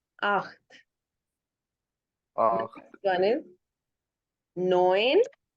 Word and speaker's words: neun: इसके स्पेलिंग तो नॉन NAUN है, लेकिन इसको बोला और लिखा, लिखा ऐसे जाता है NAUN, और इसको बोला ऐसे जाता है जैसे मैंने ये साइड पे लिखा है, नोएन, नोएन, नॉन नोएन।